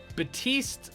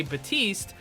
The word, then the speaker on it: Baptiste: not supposed to say the P, it's silent. And if I don't say it, and if I say Baptiste, then I have a whole bunch of comments complaining, there's a P, you're supposed to pronounce it.